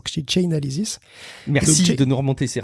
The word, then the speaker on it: Chainalysis: Russie au passage effectivement comme un auditeur l'a remarqué je le prononcé mal je prononc chain analysis chainalysis merci de nous remonter